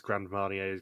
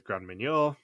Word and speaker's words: Grand Marnier: Europe plagues for them Andrew then mispronounces grand marnier's grand manure oh my God seriously